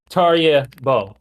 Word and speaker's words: Tarjei Bø: And I'm using like the English like pronunciation. Like I looked into it because I know that Norwegian pronunciations can be very difficult for English speakers. So it's not the true way that Tarjei would pronounce his own name in Norwegian. But when doing an English interview, it's Tarjei Bø.